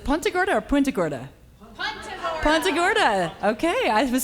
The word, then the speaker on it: Punta Gorda: Punta Gorda, Punta Gorda, Punta Gorda, Punta Gorda, Good morning, Punta Gorda. Is it Punta Gorda or Punta Gorda? Punta Gorda.